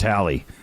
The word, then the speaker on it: Halley: Haley. What is Holly? Really? Yeah, It's Holly? yeah. It's actually pronounced Hallie.